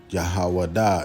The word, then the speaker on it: Yahawah: Yahawah is how you say it in Hebrew.